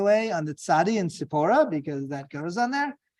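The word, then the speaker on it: צִפּוֹרָה: on the Sadi and Sephora because that goes on there uh Hebrew pronunciation sipora who is that wife of Moses meaning bird um Gematria 375.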